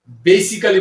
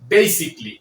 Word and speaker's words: basically: বসে সাধারণত এই এবং এল এই দুটি বর্ণ সাইলেন্ট হয়ে যায়। উদাহরণস্বরূপ আমরা এই ওয়ার্ডটিকে বেসিক্যালি বলে থাকি। নিয়ম অনুযায়ী এটা বেসিক্যালি হবে না, এর সঠিক উচ্চারণটি হবে বেসিকলি।